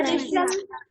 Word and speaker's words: wrestle: Okay, spelling तो लिखेंगे हम W, but इसको read करेंगे हम, इसका pronunciation करेंगे wrinkle. Understood? समझ आया? ऐसे आपका है racial.